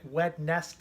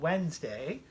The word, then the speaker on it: Wednesday: words we we were we were frequently calling it wet nest a wet nest days how it's spelled but it's called Wednesday after Wednesday comes Thursday